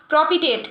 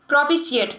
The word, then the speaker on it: propitiate: Next हमारा word हो गया प्रोपिटेट। क्या? प्रोपिशिएट। नेक्स्ट हमारा वर्ड हो गया प्रोपिशिएट। प्रोपिशिएट, प्रोपिशिएट, ठीक है।